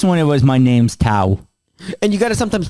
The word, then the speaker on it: Tao: In this one, it was, my name's Tao.